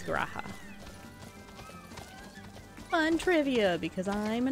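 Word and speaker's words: G'raha: name is raha but they pronounce the g so he is graha fun trivia because i'm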